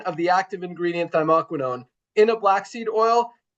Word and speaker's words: thymoquinone: But there's one crucial part of it, and that is the active ingredient, which thymoquinone. I think I pronounced that right. Dr. Ryan said I did it right last night.